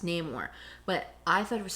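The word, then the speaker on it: Namor: um one thing too we just mentioned him no more which typically I thought leading up to this his name was Neymar which it is in the comics it's pronounced name or but I thought it was so interesting that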